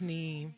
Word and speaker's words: neem: It's Neem.